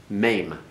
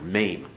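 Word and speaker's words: mem: Mame. Make certain you get that A sound in there. Mame.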